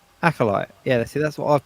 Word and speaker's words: Acolyte: How do you pronounce the show? Acolyte. Acolyte.